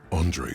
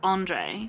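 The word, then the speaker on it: André: said this before but you know how this is pronounced Andre when it's French based I keep saying it wrong because when it's Russian based it's Andre ah yes yes yes yes which is what you're familiar with yeah yeah don't be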